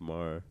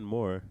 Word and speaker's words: Maher: I thought his name was pronounced Mar. Yeah, it's Mar, but it's Bill Maher, but that's what I Yeah, said. you said more.